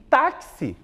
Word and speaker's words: táxi: Quantas sílabas tem táxi? 2 sílabas. Chama o táxi no portão. Táxi. A penúltima, porque eu sempre faço análise do começo, do final para o começo, né? Da última sílaba sentido a primeira. E eu observo que a tônica está aqui, ó. É a penúltima sílaba.